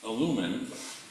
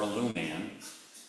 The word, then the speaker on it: Illuman: Alumin or alum man both pronunciations work very well is a movement of